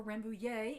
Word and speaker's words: Rambouillet: This week I am continuing to spin on Rambouillet, and or Rambouillet if you pronounce it the French way, and this is a